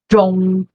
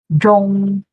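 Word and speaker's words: 中: E a pronúncia dele é Zhong, Zhong, reto, ok?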